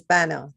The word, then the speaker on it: Bana: By the way, my last name is Bana. Thank you. Bana, sorry, my apologies.